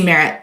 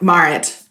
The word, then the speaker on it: Maarit: sign up and you can see Merritt Maritt. I knew I was going to do that. It's my southern tongue.